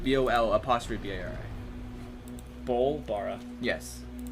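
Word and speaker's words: Bol'bari: Bolbara. Yes. Bolbara.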